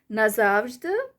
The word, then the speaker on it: назавжди: So either way you say, the meaning remains the same. назавжди, назавжди.